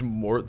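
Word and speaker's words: Morte: It's pronounced Mort. The E is silent.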